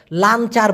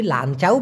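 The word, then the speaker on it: lancar: ছাড়া কিছু একটা করা সেই ক্ষেত্রে লাঞ্চার বলতে পারে আর যদি লাঞ্চাও বলে সেটা একটা গালি ভাই লাঞ্চাউ এটা হলো পুরুষ অঙ্গের নাম যেটা চাইনিজরা বলে আর কি মা অথবা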